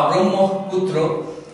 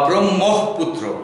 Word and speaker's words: ব্রহ্মপুত্র: ব্রহ্ম ব্রহ্ম ব্রাহ্মণ ব্রাহ্মণ এই শব্দ দুটি বা ব্রহ্ম পুত্র এখানে খেয়াল রাখতে হবে ম কে যদি আমরা